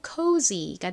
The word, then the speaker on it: cozy: sy는 z 소리 나고 c는 쌍시옷 그리고 키읔 소리 중 이 단어에서 키읔 소리로 쓰였죠. o는 o 소리 나서 연결하면 cozy가 됩니다.